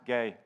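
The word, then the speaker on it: γῆ: i've been corrected on this word ghee is pronounced gay so get used to that as you know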